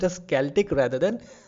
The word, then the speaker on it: Celtic: in different ways but actually here the c is being replaced by k in pronunciation okay so it is pronounced as celtic rather than celtic so prior to this